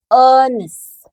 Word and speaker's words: honest: Bacanya hanya tidak dibaca. Jadi O-nya dibaca honest.